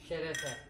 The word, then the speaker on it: şerefe: Şerefe.